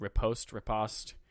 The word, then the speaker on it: riposte: can never remember how to say this word, riposte, like basically a counterattack after you block.